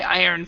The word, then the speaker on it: iron: let's change the sentence I earn money when I iron clothes iron money when I